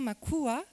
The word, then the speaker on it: Makua: travailler sur les Maka alors on dit bien Makua on prononce le a puisque ce n'est pas un mot malgache c'est un mot mozambiain on en reparlera donc on prononce bien le a euh donc j'ai commencé